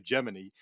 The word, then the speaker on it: Gemini: you know that that's this debate among the uh the space geek set is you know how how to pronounce it but I'll say from firsthand experience everybody that I've interviewed or spoken with who was actually involved with the program to a man they all say geminy so I I I